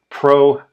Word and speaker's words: pro: Pro is about what happened before, the causes, so it sounds sort of like pre in English.